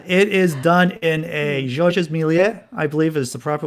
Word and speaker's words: Georges Méliès: But yeah, it is done in a Georges Méliès, I believe is the proper way to pronounce it.